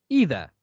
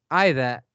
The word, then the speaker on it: either: You may say either or you may say either. Both either and either are applicable of the British pronunciation and the American one.